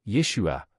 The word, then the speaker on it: Yeshua: Le nom est Yeshua avec trois syllabes Yua.